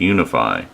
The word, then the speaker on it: UEFI: says boot mode select it has uefi which is pronounced unify we're going to hit